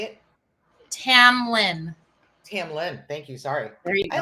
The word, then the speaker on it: Tamlynn: be a guest in a moment say it Tamlin Tamlin thank you sorry I like Tamron though because I was thinking you know Tamron okay Tamlin I will be respectful see if your mother